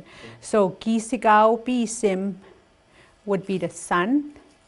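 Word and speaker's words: kîsikâw-pîsim: What I'm going to just do the pronunciation. Okay. So ki sigao bi sim would be the sun.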